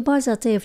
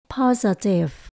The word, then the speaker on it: positive: môi trường tích cực chữ positive chúng ta nhấn đầu tiên là Pa âm số hai không nhấn đổi về âm ơ chữ s trong trường hợp này Mình đọc là g paer paer âm số ba là ti tận cùng cái chữ vi positive positive một